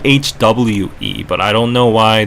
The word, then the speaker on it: hoe: So, Ho is pronounced in Korean H. It's more like HWE.